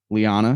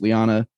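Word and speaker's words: Leane: quote from our badass lyanna sedai so i was mispronouncing it on the insta reaction but it's liana she comes the watcher of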